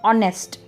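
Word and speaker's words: honest: एक एग्जांपल समझते हैं एक वर्ड है एच ओ एन ई एस T okay जिसे हम प्रोनाउंस करते हैं जिसका हम उच्चारण करते हैं एज ऑनेस्ट यहां पे एच साइलेंट है एच साइलेंट होने की वजह से जो उस वर्ड का उच्चारण होता है वह स्वर से शुरू हो रहा है यानी कि ओ से शुरू हो रहा है ऑनेस्ट तो हम इस शब्द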